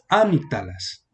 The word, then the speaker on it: amígdalas: Aquí en amígdalas habrían varias formas de pronunciarlo. Una sería, aquí el acento aquí sería amígdalas. O si lo ponemos aquí sería amigdalas. O si lo ponemos aquí sería amigdalas. Pero como tiene la tilde, aquí nos está indicando el acento va aquí, amígdalas.